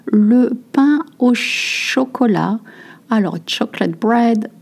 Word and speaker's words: chocolat: Alors, chocolate bread. Notice that we say chocolat, not chocolate.